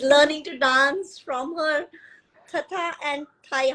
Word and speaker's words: Tata: she yes she's learning to dance from her Tata and Tha how do you how to pronounce that correct tat yes that's what we